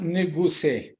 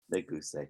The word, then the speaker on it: Neguise: Avraham Neguise. Neguise, thank you.